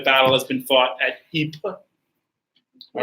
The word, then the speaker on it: Ypres: to know that the British usually call this wipers. All right. Okay. And we're going to fight a series. This is actually the second time that a battle has been fought at Ypres.